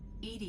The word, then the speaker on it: EDI: airlock is a jar why are you named Ed Ed is the phonetic pronunciation of e that is an acronym for